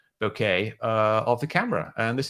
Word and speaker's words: bokeh: It just looks like the bokeh, or the bokeh, pronounced like okay, bokeh of the camera.